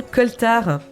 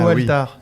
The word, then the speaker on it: coaltar: D'ailleurs, on dit être dans le coaltar. C'est pas grave. Donc ça s'écrit... Ça s'écrit effectivement coaltar. Donc C-O-A-L-T-A-R.